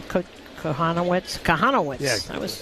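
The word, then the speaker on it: Kochanowicz: How do you pronounce his name? Kohanowitz? Kohanowitz.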